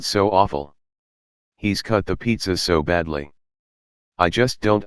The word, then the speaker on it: pizza: balram they laughed again it's not pja it's pizza say it properly wait you're mispronouncing it too there's a tin in the middle pete za don't correct my english ashuk there's no tin pizza look at the